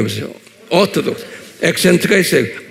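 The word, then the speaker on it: Orthodox: 오토독스 한번 발음해 보세요. 오토독스. 액센트가 있어요. 오토독스. 그래야 돼. 예. 오토독스.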